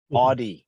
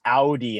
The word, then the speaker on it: Audi: the other day about that it is not audi it's audi and it's actually an acronym audi is so